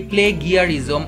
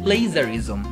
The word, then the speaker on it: plagiarism: সো এটাকে আমরা অনেক সময় উচ্চারণ করে থাকি প্লে গিয়ারিজম অথবা প্লে জিয়ারিজম। প্লে গিয়ারিজম বা প্লে জিয়ারিজম যেইটাই বলি না কেন, এক্সাক্ট উচ্চারণ হচ্ছে প্লেজারিজম, প্লেজারিজম, প্লেজারিজম, প্লে গিয়ারিজম না, ইটস প্লেজারিজম, প্লেজারিজম, প্লেজারিজম, প্লেজারিজম।